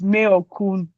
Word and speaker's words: Mayorkun: And I wanted to say, he said his name is Mayorkun. So that's how you say it. Yeah, yeah. Just to let you know. I get it, right? Mayorkun, Keep on Rocking.